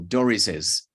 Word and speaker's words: Doris's: You know, when you have those apostrophes, S's after S's, then you need to add an extra syllable. Doris's.